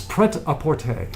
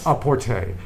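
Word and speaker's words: prêt-à-porter: For off the rack is preapporte. Ah I have heard of that. Aapporte. Uh which is very bad French pronunciation.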